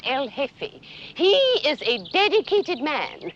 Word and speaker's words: El Jefe: G-E-F-E, the J is silent, El Jefe.